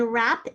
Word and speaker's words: wrap: our prefix on then wrap is one of those words that has a wr at the beginning wrap there's our base where